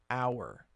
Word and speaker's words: hour: like in the word hour. Now, hour actually starts with an H, but it's silent, an hour. You don't pronounce the H, so it's still an.